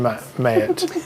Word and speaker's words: Ma'at: It's pronunciation is Mayat according to my sources.